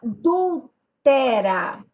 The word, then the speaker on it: adultera: tá mandando fazer a adúltera adúltera nesse caso a minha sílaba tônica é o pé eu tenho uma paroxítona